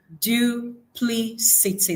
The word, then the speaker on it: duplicity: We have duplicity. That's four syllables we have here. And its transcription is do play say see.